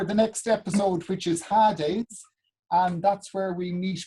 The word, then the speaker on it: Hades: I pronounce it Hades.